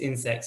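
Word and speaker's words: Ynsect: It's Insect spelt with a Y, and they've probably raised more investment than anyone else in the insects for animal feed side.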